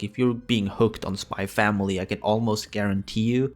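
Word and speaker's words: Spy × Family: I'm going to pronounce it SpyXFamily because, well, let's be honest, if you can pronounce Hunter Hunter without the X, you can pronounce SpyXFamily without the X.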